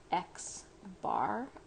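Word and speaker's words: x-bar: x with a bar over it and that's pronounced x bar x with a bar over it and similarly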